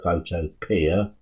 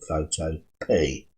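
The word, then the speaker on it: Photopea: p now i know some people call it photo peer but being an english person i'm gonna pronounce it photo p right so click on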